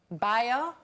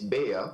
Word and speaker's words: Bea: Bio? Well, I mispronounced it slightly, but it's Bea.